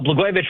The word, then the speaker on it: Blagojevich: Well, Blagojevich rhymes with Catsimatidis, and in California, I believe they're stealing votes.